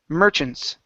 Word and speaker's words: merchants: is the word Merchants the stress is at the very beginning Merchants Merchants uh Merchants make sure to pronounce the N Merchants Merchants good job